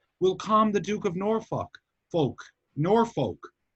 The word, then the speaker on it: Norfolk: There's no L in the sounding it out. Yeah, so it is Norfolk, Norfolk. but it's not Norfolk. So it's like a Norfolk. It's like Norfolk. Yeah. Yes, Will come stress is on the first.